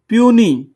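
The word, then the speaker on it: puisne: Senior प्यूनी, ये लफ्ज को बहुत सी इसकी कंफ्यूज सी प्रोनाउंसिएशन है, प्यूनी।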